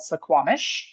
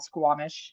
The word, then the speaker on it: Suquamish: Now we're going to head up here to this little community called Suquamish. And I'm probably pronouncing that right. It's probably just called Suquamish. That first U, I think, is silent.